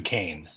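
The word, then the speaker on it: Duquesne: And it looks close closer than uh Also, just I want to I don't mean to correct you, but he's Dukane. No, hold on. That's pronounced D.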